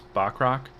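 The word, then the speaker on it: Bachrach: uh Eon Moss uh I think it's Bach rock is how you pronounce his last name he plays cousin oh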